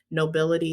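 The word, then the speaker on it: Knowbility: work with organizations like access computing um nobility nobility is spelled k k-n-o-w b-i-l-i-t-y these are organizations that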